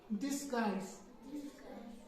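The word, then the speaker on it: disguise: डिसगाइज। डिसगाइज, DIS, dish, GUISE। यू जो है यहाँ पे साइलेंट है और इसको हमने डिस्गाइज पढ़ना है।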